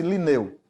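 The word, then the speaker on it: Lineu: O nome dele é Carl von Linné, para nós, mas pronuncia-se Linneu.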